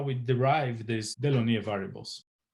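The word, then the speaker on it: Delaunay: derive this delineate variables in case you are wondering how to say this guy's name i was wondering that too so i asked the french friend of mine to which she replied so there you go dylan angulation variables are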